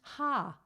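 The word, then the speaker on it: ห้า: Because the numeral 5 is pronounced ha.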